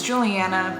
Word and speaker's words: Juliana: But my name is spelt like Juliana, so a lot of people always pronounce it like that, but it's Juliana.